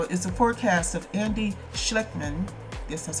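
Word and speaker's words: Schectman: The dire scenario is a forecast of Andy Schleckman, yes, that's how you say it, president and owner of Miles Franklin and an expert on monetary and economic history.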